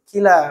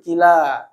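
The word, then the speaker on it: كلا: Oke, kullu itu jadi kila bacanya ya. Pakai alif, kila.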